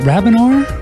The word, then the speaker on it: Rabinor: Now let's up to New York, and we're going to talk with the interesting lady, Rabinor. Is it Rabinor? Yes, it is. You pronounced it absolutely perfectly.